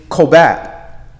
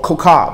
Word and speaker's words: kokab: So the word stars is kobab, which is H3556. Oh, kokab, excuse me. Kokab, and that's spelled K-O-K-A-B.